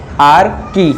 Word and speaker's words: Archaea: आर्की बोलते हैं। आर्की की स्पेलिंग देखिए बेटा ARCHAEA, आर्की।